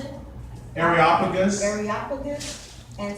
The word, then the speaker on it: Areopagus: Areopagus.